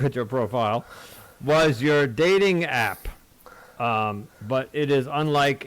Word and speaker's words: Dataing: I just wanted to, because as you pronounce it, it's dating, but I want the